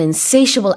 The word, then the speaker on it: insatiable: 여기서는 가운데 트 발음이 들어가는데요. 이게 형용사 satiable이 됐을 때는 T로 발음하지 않고 슈로 발음을 합니다.